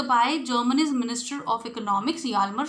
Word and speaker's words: Hjalmar: So you should not pronounce it in a wrong way. It should be pronounced Hjalmar. Okay, it's a German name. So it should be done in that way itself. Hjalmar, Schacht.